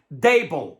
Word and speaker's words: Daboll: It's pronounced Daboll, like table, except with a D instead of a T.